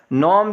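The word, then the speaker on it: gnome: नॉम देख लें, इसमें जी साइलेंट है।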